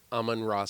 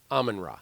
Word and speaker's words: Amon-Ra: I said it wrong I said almond Ross Saint Brown it's close amen amen Rock there you go almond Rossi and by